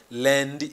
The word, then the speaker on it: lundi: That's why it sounds lundi. It is like saying lundi, something like that.